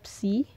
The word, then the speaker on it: psi: Jadi yang ini dibacanya psi.